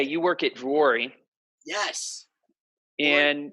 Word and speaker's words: Vuori: say you work at Drury. Yes. And what is the Finnish way of saying it, which is actually the right pronunciation? I know a Finnish lady. Yeah. But yeah, I do work at Vuori as a community manager in Encinitas.